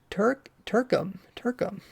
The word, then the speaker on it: TRK: TRK is pronounced Turkum.